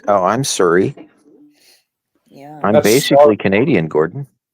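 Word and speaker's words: Surrey: yeah sir BC because there's a city Siri BC we say we even say Siri we say oh I'm Siri yeah I'm basically Canadian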